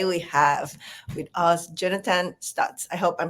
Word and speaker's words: Stutz: Today we have with us Jonathan Stutz. I hope I'm pronouncing your last name right.